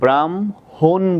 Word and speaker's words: ব্রাহ্মণ: এই যে দেখো, হ যোগ ম থাকলে কি করতে বলছি? ম হসন্ত হ। তাহলে এই যে ম হসন্ত হ করলাম। এখন দেখো, ব্রাহ্মণ বলি, ওই জন্য ও কারটা দিলাম, ব্রাহ্মণ বলি ওই জন্য ও কারটা দিলাম।